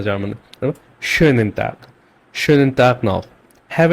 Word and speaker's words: schönen: দেন আছে schönen Tag noch, schönen Tag noch। এখানে একটা umlaut আছে যার কারণে আমি schönen বলছি। আপনি এটা শোনেন টাক বলতে পারবেন না, শোনেন টাক এটা ওয়ার্ডটা হবে না জার্মানে। schönen Tag, schönen Tag noch,